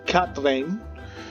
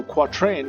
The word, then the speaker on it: quatrain: prove it you should it's usually pronounced cat lane but if that's the third as a French version so quatrain it's acceptable - it's